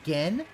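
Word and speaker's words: Gehn: he knows uh gen he's been calling him gain the entire time now he knows it's pronounced gen what the [ __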